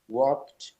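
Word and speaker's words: worked: ওয়ার্ক, ওয়ার্কড, ওয়ার্কড, কাজ করা। এখানেও ডি আছে, আমাদেরকে উচ্চারণ করতে হবে টি এর মতো।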